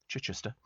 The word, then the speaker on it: Chichester: which is quite nice uh Simon in Chichester pronounced Chichester says Westminster Abby on Remembrance Sunday unbelievable experience